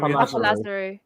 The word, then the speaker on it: Papa Lazarou: Papa Lazarou. Papa Lazarou.